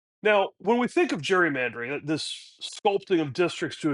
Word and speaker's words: gerrymandering: and hence I guess technically we should call it gerrymandering but in the common parliament of today it's gerrymandering. The G has gone from being hard a hard G to a soft G.